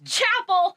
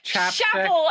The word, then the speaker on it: Chappell: Because I know it's Chappell, but in my head I keep saying Chappell, and so it's going to happen.